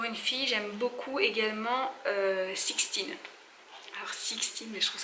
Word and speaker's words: Sixtine: Mais en soi, donc Sixtine ça s'écrit S-I-X-T-I-N-E, pas comme en anglais.